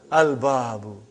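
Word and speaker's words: الباب: Al-Babu. Is it moon letter or sun letter? Moon letter. You did pronounce Lam.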